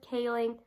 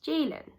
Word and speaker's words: Ceylin: But I'm always more than happy to tell people that my name is actually pronounced Jaylin, and the letter C makes a J sound due to my name being Turkish.